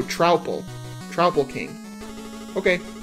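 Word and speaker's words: Troupple: Pronounced like mouthful. So, Trowple.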